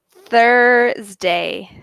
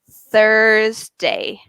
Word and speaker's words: Thursday: it's similar to Tuesday this one is Thursday so if you see because of the th my tongue hits my teeth so I go the Thursday Thursday ok Thursday whereas when I do